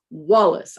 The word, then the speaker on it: Wallace: And if I said Wallace with the accent on the ace, it would be Wallace, but it's Wallace. I put the accent on the wall.